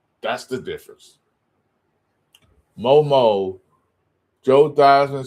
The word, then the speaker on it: Theismann: real name is, Joe Theismann. He changed his name to Theismann to rhyme with the Heisman when he thought he was going to win the Heisman Trophy.